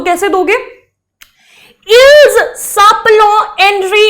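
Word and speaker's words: ils: इल साप्लो means, ये मैंने इल्स बोल दिया, वैसे तो हम इसको इल ही बोलते हैं, ठीक है, ये आपकी लर्निंग के लिए मैंने इल्स बोला है, बट अदरवाइज इसकी प्रोनाउंसिएशन इल ही होती है, क्योंकि आपको पता है ये एल और एस दोनों के दोनों कॉन्सोनेंट है, तो हम इसको प्रोनाउंस नहीं करेंगे एस को, तो यहां पर इल ही होगा।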